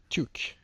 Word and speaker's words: toque: I repaired my I'll just show you my wool 2K toque, as it is pronounced in Canadian apparently.